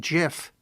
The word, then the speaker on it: GIF: no idea but yeah it's GIF is the right one that's the because it's graphic yeah right yes wow